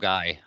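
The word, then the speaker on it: Milngavie: Mulgai. Milgai. Yeah, it's spelled Milngavi, but Yeah. it's Mulgai is how you pronounce it.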